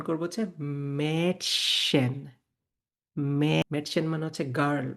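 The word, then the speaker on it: Mädchen: তাহলে আমি এটার উচ্চারণ করবো হচ্ছে মেটশন।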